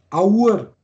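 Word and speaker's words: אור: Da wird das Aleph als O ausgesprochen. Aur. Aur.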